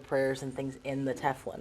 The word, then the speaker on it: tefillin: absolute tefillin, is that the right way it's pronounced? Yep, okay, tefillin.